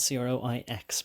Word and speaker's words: croix: And by the way, it's no coincidence that it's C-R-O-I-S and C-R-O-I-X, but it's pronounced the same, and croix is a cross, and it's also a belief.